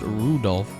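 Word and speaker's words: Rudolf: on it's just anyway this guy's name is pronounced Rudolph he must hate grandfather for giving him that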